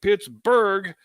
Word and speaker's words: Pittsburgh: local phonology changed and people switched to calling it Pittsburgh with the hard G sound on the end and the reason why